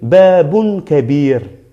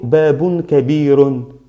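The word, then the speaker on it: باب كبير: Yo no digo babun kabirun. Babun kabir. ¿Vale? Babun kabir. Es la omisión, ¿vale? Aquí la omisión es pronunciar la consonante como si lleva un sukun. Sukun es decir, solo el sonido de la consonante. R, como aquí. Babun kabir. Ni ro, ni ron, ni ran, ni ra, ni nada. Solo r, r.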